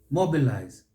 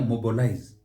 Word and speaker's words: mobilize: Mobilize. Here you will see a mobilize.